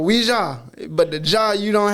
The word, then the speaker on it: Ouija: and it's spelled just, I hate when people say my name, Ouija. It's O-U-I. That is we people, we. Like in French class. Oui, oui. Oui, oui. Mon show. You know what I mean? It's Ouija or Ouija, but the Jah